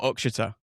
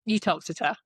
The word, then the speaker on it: Uttoxeter: Is it Uttoxeter or Uxeter? Uttoxeter. There you go. Uttoxeter it is.